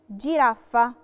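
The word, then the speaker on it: giraffa: جيلاتو نفس القاعدة، فوكال اي نطقتها جي، جيلاتو، جيلاتو اللي هو الايس كريم. جيرافة، جيرافة لا لتر جي وراها في لتر اي،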